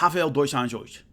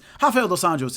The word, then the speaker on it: Rafael dos Anjos: pronouncing the name is the way he says his name, and I've heard him when I was calling his fights and stuff, it's like Rafael dos Anjos. It's really, and I always think of that every time I say his name, and I'm like trying to say it, but it's Rafael dos